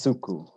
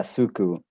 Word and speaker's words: Suku: It's if you think of cuckoo, it's suku. So pretty much like it's spelled. That's yeah, suku.